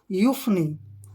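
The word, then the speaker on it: euphony: आ से बना फ फ और ओ इसमें साइलेंट रहेगा और एन वाई से बना नी यू फनी यू फनी यू फनी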